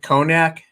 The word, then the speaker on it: cognac: and black currants uh co can never pronounce that right cognac is how you say conan cognac okay um talk about